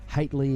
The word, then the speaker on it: Haitley: Haitley is how you say Charlie's surname.